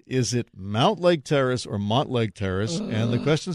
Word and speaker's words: Mountlake Terrace: lifelong Puget Sound resident I know it's spelled with a u but it's always been Montlake Terrace you are wrong for 25 says Mountlake Terrace it's not debatable 206 says I grew